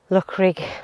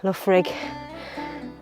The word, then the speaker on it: Loughrigg: take a walk up look rig love rig and that's how you say it love rig fell